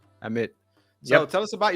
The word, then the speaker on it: Amit: Is that Amit? Am I Amit. pronouncing it correctly? Amit.